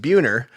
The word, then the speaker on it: Buehner: when I'm out there my last name is pronounced buer uh for obvious reasons